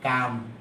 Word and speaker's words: calm: আচ্ছা, এরপরে আমরা একটা শব্দ দেখব, সেটা হলো, দেখেন এই যে শব্দটা দেখতেছি আমরা, CALM এর উচ্চারণ নাই, কাম।